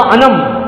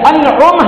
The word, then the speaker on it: انعم: میں نے کہا یہ انم نہیں ہے، یہ انعم ہے.